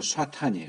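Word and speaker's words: שטן: 그러니까 이 사탄, 이게 이제 히브리어로 쏴탄이에요. 쏴탄.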